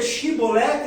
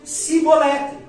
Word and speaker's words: chibolete: A palavra era shibolete com ch. Mas a tribo de Efraim, por falar um dialeto um pouco diferente da tribo de Gilead, não conseguia pronunciar o CH com som de ch. Pronunciava o som de ch como som de f de s. Então ao invés de dizer chibolete, eles diziam cibolete.